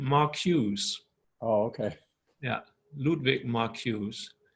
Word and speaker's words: Marcuse: name is ludwig marcuse i think you would pronounce the the last name mark hughes oh okay yeah ludwig